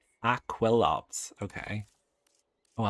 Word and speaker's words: Aquilops: Aquilops.